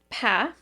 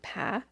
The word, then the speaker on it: Pah: So Pah, I've also heard her name pronounced Pa, but we're going with Pah, was born in Thailand probably around 1986, since today she would be 38 years old.